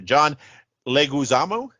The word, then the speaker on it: Leguizamo: if I can get his name right here John Leguizamo right that's how you say it in it